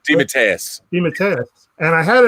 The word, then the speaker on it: DeMatteis: How do you pronounce the last name? DeMatteis.